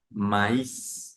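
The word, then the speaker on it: maïs: el hecho de que la a y la i suenen e se van a separar en dos sonidos y se va a pronunciar esa palabra como maíz maíz y se escribe m a iá es m a i con trema o sea con dos puntos sobre la i s y esto me indica que entonces yo separo el sonido de la a y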